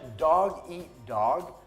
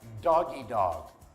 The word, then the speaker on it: dog-eat-dog: contraction could have correctly the expression dog-eat-dog is mispronounced as doggy dog like Snoop Doggy dog sorry double well doggie